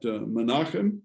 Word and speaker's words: Menachem: But Menachem, same name as Menachem Begin, that used to be the president of Israel, the prime minister of modern Israel.